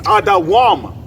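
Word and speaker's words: אדום: How do you say Edom in the Hebrew? It's Adawam, which means red.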